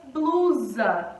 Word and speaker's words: blusa: Descobrimos que a sílaba tônica é o blu, beleza? 1, 2. É a nossa penúltima sílaba, que é a nossa sílaba tônica, beleza?